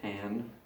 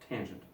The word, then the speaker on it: tangent: We do not pronounce that tan. Kind of like when you see this. How do you pronounce that? Do you say mr? No, that's crazy. You would say Mr. How do you pronounce that? Do you say mrs? No, it's Mrs. Likewise, when you read that, do you say tan? No, that's silly. When you see that, you read tangent.